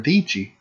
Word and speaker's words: Deechy: But now there's a female YouTuber that I really like watching and stuff, and her name's Sarah Deechy, rhymes with peachy.